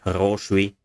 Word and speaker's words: хороший: For example, Russian words хорошо, stress syllable, the last one, and хороший, stress syllable, second syllable, quite different.